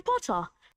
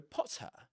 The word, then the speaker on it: Potter: And they don't pronounce the ra at the end of potter. Right? That short o sound in potter, the beginning of potter.